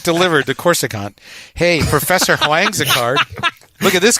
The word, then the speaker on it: Huang: Professor Huang is 69. You literally, but I'm. There's no W. There's no W. It's no. The HU is pronounced like a W. Huang.